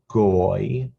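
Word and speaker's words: גוי: This is pronounced goy because of the yud. Yud next to an O makes an oi sound, like oi, oivai, goy.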